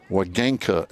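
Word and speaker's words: Wegenka: She spells her last name W-E-G-E-N-K-A. Wagenka is how it's pronounced.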